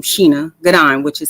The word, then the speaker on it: Shana: it's about it's felt like Shayna but it's pronounced Sheena okay okay that's it okay I just want